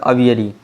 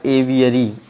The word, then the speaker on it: aviary: अब आइए next word है आपका लार्ज अवियरी। यहाँ पे large cage are building for keeping birds. यहाँ पे देखिए यहाँ पे थोड़ा स्पेलिंग इसकी मिस्टेक हो गई है, ये हो जाएगा एवियरी, AVIARY होता है एवियरी, और यहाँ पे आप